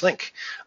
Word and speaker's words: Linck: So now that I've said that 17 times, is your last name pronounced Linck? It is Linck, yes.